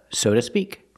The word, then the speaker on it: so to speak: but so to speak the word to is not stressed so we change the vow to a more relaxed sound uh soda and the T and two is between vowels so it changes to to a fast tea soda soda like soda